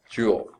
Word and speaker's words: Joule: diamonds don't you okay Joule it's not spelled like that it's about jou l.e named after James Prescott